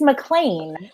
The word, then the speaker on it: MacLean: It's MacLean, and I am also drinking rosé, and I also brought the whole bottle. So yes, let's do it. I'm ready. Yay, this is Sarah MacLean, everybody.